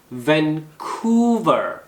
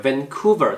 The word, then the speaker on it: Vancouver: Vancouver 액센트가 이음절이에요. Vancouver 도시 이름이죠.